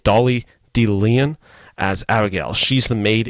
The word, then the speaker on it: Dolly De Leon: And then the steam killer of this film is actually played by Dolly De Leon. Sorry, let me repronounce that name. Dolly De Leon as Abigail.